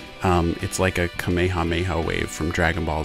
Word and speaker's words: Kamehameha: learned that there's actually some debate over the correct way to pronounce Kamehameha the English dubs have done it differently over the years some have pronounced it as Kamehameha or Kamehameha and others have said Kamehameha apparently that is the more correct way to say it I'm sure I'm gonna